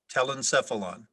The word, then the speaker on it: telencephalon: telecephalon helen stuff tell himself along am i pronouncing it correctly telencephalon tell them stuff along t e l e